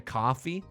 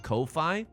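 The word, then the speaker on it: Ko-fi: can buy me a coffee on the site Kofi look I think it's just pronounced coffee but it's spelled KO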